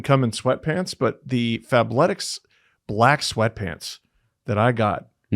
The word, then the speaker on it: Fabletics: Well, should tell you guys it's Fablettics that I pronounced correctly for the first time in my life.